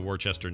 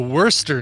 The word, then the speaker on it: Worcester: common thing but it's you basically pronounce the first five letters as worse and then the last four letters as stir worse than it's worster